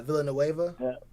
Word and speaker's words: Villanueva: I really cannot pronounce this dude's last name. He's a tackle from Pittsburgh. Alejandro. Yeah, Villanueva.